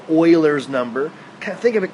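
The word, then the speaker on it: Euler: base e which is Oiler number and yeah that's weird that that guy's name is pronounced Oiler um Oiler number is something we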